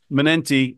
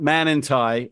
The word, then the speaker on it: Manenti: But I just want to point out it's Manenti, not Manenti. And I guarantee you, John,